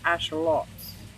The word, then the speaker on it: axolotls: But she said the proper way to pronounce it is axolotls. Axolotls. I forget what she said, but it's like that.